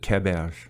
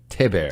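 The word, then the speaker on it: Théberge: How does your mom pronounce it? Theberge. Theberge. That's from Canada. Okay. That's the French... Canadian, yeah. Yes. Theberge. So Theberge would be the real French way to say Yeah.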